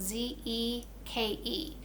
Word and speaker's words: Zeke: Our next word is the name Zeke. Zeke. It's spelled Z-E-K-E. So listen. Z-E-K. Zeke. Z-E-K. Zeke. Do you hear a long E in the word Zeke or a short E?